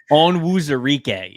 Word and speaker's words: Onwuzurike: I can't pronounce his last name. Onwuzurike is how you say his last name.